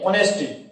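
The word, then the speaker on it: honesty: देखिए ऑनेस्टी, ऑनेस्टी नहीं क्या है यहाँ पे? ऑनेस्टी यहाँ पे एज साइलेंट है, एज क्या है यहाँ पे?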